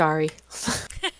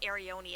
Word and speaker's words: Ari: Just Ari. I know, I always say it wrong. I always say Arione, and I know that that's wrong.